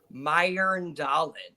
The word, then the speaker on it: Mjøndalen: So you got that J, and it makes like an IR. So like Earl. So it's like Mjøndalen. But you can kind of say it in English as like Mjøndalen, but it's kind of